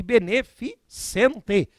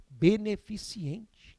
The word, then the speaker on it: beneficente: osu né receoso e beneficente beneficente só tem um problema eu já ouvi de pessoas escolarizadas na área do direito o tal de beneficiente que é isso aí